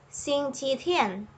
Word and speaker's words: 星期天: And Sunday is an exception. It gives us two choices. We can pronounce this as 星期日 or 星期天.